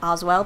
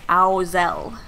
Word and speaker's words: Oz's Owls: was saying it wrong i was saying oswell but it's ausel which is much more difficult to say i should have done